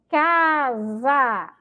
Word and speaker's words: casa: Casa, ó, e quando a gente pronuncia, tem um som de Z, tá bom?